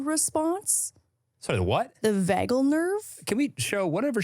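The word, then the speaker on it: vagal: gonna I'm probably going to um butcher the pronunciation here is the vagel response sorry the what the vagel nerve can we show whatever she's saying v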